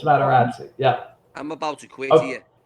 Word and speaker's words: Materazzi: It's not Maserati. It's Materazzi.